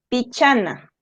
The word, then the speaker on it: pichana: penúltima sílaba pi Chai y acá como la penúltima sílaba es la cha le ponemos la mayor fuerza de voz en la cha pichana biena sigamos viendo más